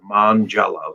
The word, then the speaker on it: Mongiello: i just tell him just remember jello on monday my family eats jello on monday that's what you're famous for mon jello so mangelos fantastic that's